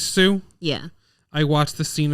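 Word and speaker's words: Hsu: balance Stephanie is crazy how do you say her last name shoe shoe I watched the scene with her it is Sue yeah I watched the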